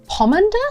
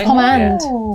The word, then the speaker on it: pomander: Okay, I'm going to use my pomander. Yeah, pom. Pom. Pomander. Pomander. Evolves into pom. It's a medieval word, so I should know, but I don't know. Pomade. Pomade is the thing, right? It's pomand.